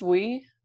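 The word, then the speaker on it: OUAI: The, how do you pronounce this? Way?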